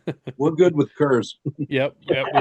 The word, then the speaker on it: Coors: we're good with curs. Yep, we like Coors. We got an upstate New Yorker over here pronouncing it the Oklahoma way.